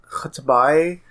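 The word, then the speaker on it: X'tabay: Yeah, I think the name is supposed to be pronounced Khatabai, but it's like X apostrophe Tabay.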